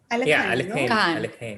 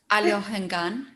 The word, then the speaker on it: Alekhine: How do you pronounce it? Alohengan. Really? Yeah, right. Alekhine, yeah. No, yeah, I always called him Alekhine. I mean, not that I ever met him, but I have this influence from Russian.